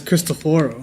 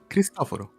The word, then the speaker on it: Cristoforo: Yeah, he pronounces his Cristoforo. own name as Cristoforo. Easy. Cristoforo.